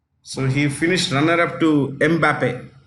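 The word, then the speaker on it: Mbappé: he finished runner-up to mbappe that's how you pronounce it m Bape okay next Golden Globe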